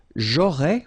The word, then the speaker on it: j'aurais: J'aurais, remember, final S not pronounced.